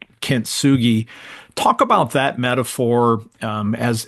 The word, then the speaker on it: kintsugi: It's a Japanese word. I think we said you pronounce it kintsugi.